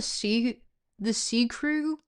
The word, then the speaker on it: Ccru: If the CCR, if did you know it's actually called the C Crew? That's how it's originally pronounced.